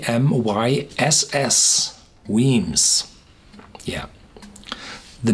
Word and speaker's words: Wemyss: moved to toast them remember it's pronounced Queens it's spelled w e my SS Weems yeah the name means caves in Scots and